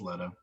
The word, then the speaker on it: Leto: I saw an interview, and with Jared Leto, I always say it wrong. Jared Leto. I think it's Leto. Yeah, Yeah. it's Leto.